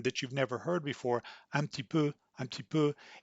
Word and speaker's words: un petit peu: in real life because knowing that they say amputee poo doesn't perhaps prepare you to hear the sound pattern so you this is